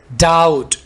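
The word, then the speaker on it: doubt: jelly अच्छी लगती है डाउट बी को यहां पर साइलेंट रखें डाउट शक देयर इज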